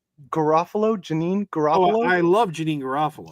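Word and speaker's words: Janeane Garofalo: I think, how do you pronounce her name? Janine Garofalo.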